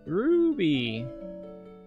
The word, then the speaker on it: Ruby: It's Ruby. You gotta say it with a roo.